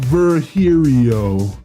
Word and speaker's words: Virgilio: we meet again bartender you look winded virgilio it's pronounced verhirio now I'm pretty sure it's virgilio you said